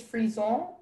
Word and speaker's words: frison: The word is frison. That's the only pronunciation.